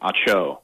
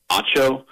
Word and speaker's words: Acho: pronounce his last name acho like it's like a sneeze i i think he goes with more of like an emphasis from a first syllable like an acho um not not so